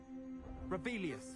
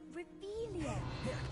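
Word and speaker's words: Revelio: Where are you, Rebelius? Saying it wrong, Reelia.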